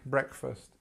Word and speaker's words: breakfast: just let's have a look at this Breck breakfast this is where our stress is I eat breakfast at 7:00 a.m.